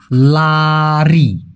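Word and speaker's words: lari: যদি এই যে লারি লারি উচ্চারণটা কি? লারি।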